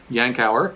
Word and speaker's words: Yankauer: are the yankauer suction yankauer is how you pronounce this we have the plastic